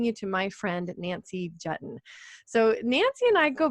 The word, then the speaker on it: Juetten: Is it It's Juetten like button. Juetten, perfect, like button.